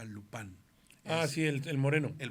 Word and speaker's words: Lupin: la serie de Netflix se llama Lupin, pero que se pronuncia Lupán.